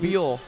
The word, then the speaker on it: Buell: Buell.